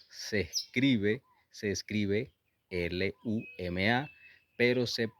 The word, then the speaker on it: luma: Es una mezcla entre la L y la R y suena ruma.